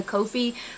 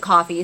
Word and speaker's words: Ko-fi: I also have a Ko-fi, coffee. It feels weird to pronounce it coffee, so I just pronounce it Ko-fi.